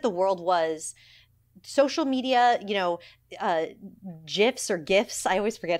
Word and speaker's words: GIF: The audience, the way that the world was, social media, GIFs or GIFs. I always forget how to say it because I'm an old lady. Hard G. GIF. That is it?